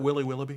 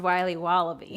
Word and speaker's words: Wiley Wallaby: Can I have a piece of that Willy Willoughby? Wally Wibbly. Wiley's Wallabies. Wallaby Wallies? Wilby Wobbaby? It's pronounced Wiley Wallaby.